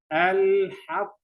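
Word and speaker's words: الحق: So the degree of qalqalah, the degree of vibration, the echo or shaking sound will be so strong. So we pronounce this word like this. Al-haqq.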